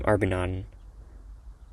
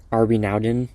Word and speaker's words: airBnaodn: Okay, little hark back to the name Arbinaden. That's how you say it. Arb Arbinaden or Arbaden. It's kind of like that.